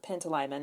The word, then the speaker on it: Pantalaimon: And I love the main character, Lyra, and I think you will see shades of Lyra and her daemon, Pantalaimon I think is how you pronounce his name, in Quicksilver and Fox.